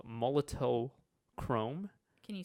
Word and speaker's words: Molotow: So Molotow. Molto. I think it's pronounced Molto. So what you can do is I'm thinking of a Molotov cocktail.